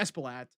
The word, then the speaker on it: Espaillat: Espaillat? Yeah, Espaillat.